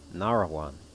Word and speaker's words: Nahrawan: Yeah, we'll go there, and then we'll go down to Samarra, and then Baghdad, and Nahrawan, rather. Nahrawan. I was putting extra syllables in there.